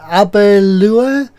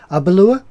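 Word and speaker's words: Aberlour: is um this one it's uh alba law pronounced uh abbe lua a balua yeah it's a space-hide whiskey it's uh from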